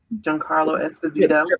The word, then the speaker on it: Giancarlo Esposito: How do you pronounce his name? Giancarlo Esposito.